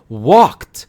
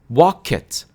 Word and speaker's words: walked: For example, I walk to the store, but yesterday I walked to the store. That's 1 syllable. Walked, not walk it.